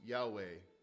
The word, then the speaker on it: Yahweh: Most people who study Hebrew would say it would have been pronounced Yahweh, but that's not certain.